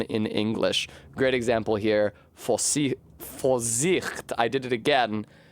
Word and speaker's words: Vorsicht: Great example here, Vorsicht. I did it again. The V is a F, the S is a Z.